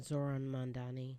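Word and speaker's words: Mamdani: Zoran Mandani.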